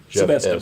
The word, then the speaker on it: Šebesta: Here you're going to go into jail, and as you pointed out earlier, Šebesta. Šebesta, by the way. Šebesta. Have I been saying it wrong all this time?